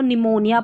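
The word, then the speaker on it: pneumonia: Starting में आता है, पी और एन जब स्टार्टिंग में आते हैं ना ऐसे स्पेलिंग्स में, कुछ एक स्पेलिंग्स रहती है, तो यहाँ पर पी साइलेंट रहता है। इसको हम साइकोलॉजी पढ़ेंगे, पी साइकोलॉजी नहीं, इसको निमोनिया पढ़ेंगे, ठीक है।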